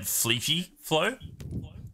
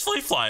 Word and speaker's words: Flea Fly Flow: Fly Flow was well, I said Fleepy Flow. Fleepy Flow. Yeah. So that was a bit funny to try to say his name, and then Cal was like, "Oh, it's Flea Fly."